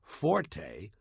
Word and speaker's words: forte: point is not pronounced Forte got that it's pronounced Fort the Italian word Forte f o r t used in music not